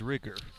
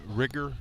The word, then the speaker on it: Rieger: One of their parents has told us it is Rigger. Okay, Tyler Anderson, the batter for the Wildcats. Did I pronounce it correctly? Yes. Rigger.